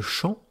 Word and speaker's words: chant: Je vous parlais de chant tout à l'heure, C-H-A-N-T. Eh bien, si vous savez qu'il y a un T à la fin, vous pourrez comprendre que